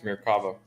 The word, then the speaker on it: Merkava: It's Merkava. Sorry, Merkava. And I've had to say that to myself like a million times because I grew up calling them, it's a Tamiya Merkava. Yeah, that's not how you say it.